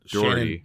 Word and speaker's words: Doherty: Shannon Doherty. I said it right. Doherty.